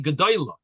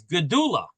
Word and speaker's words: gedula: This does not say gedoyla. This word is gedula.